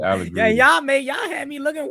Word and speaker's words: Allegretti: He said Allegretti the first time. He said it right the first time. He's Allegretti all for 2 years. For real? Damn, I didn't know I was butchering it like that. Definitely Allegretti.